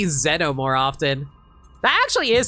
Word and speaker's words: Xeno: God, I need to remember to say Xeno more often. That actually is the correct pronunciation for it.